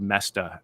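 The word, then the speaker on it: Moesta: who take notes mestas it's hard to spell pronounce this it's it it's m-o-e-s-t-a it's actually not hard to spell but the spelling doesn't look like the pronunciation Bob messed up on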